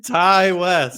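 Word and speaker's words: Ti West: How the fuck do you say his name? Ty West. Ty West. Ty is T-Y.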